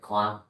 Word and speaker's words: Quang: My name is Quang Can Can you tell me your full name?